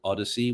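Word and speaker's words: OHDSI: there's an open source movement called Odyssey which is o h d s i of course they can't spell it correctly of course no no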